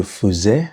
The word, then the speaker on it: faisais: Okay, so je faisais, and it's pronounced E, not faisais.